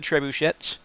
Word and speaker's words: trebuchet: and then to the trebuchets by the way that's not how the that's not how you pronounce it it's trebuchet but the game it's